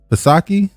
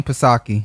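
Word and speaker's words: Psaki: you say this name pasaki or jasaki kasaki i mean the p would be silent wouldn't it i've never heard him say her name i think it's it's jan pasake all right fosaki handles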